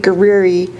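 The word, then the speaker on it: Guerrie: good evening Commissioners my name is guiri it's spelled gu u e r r i e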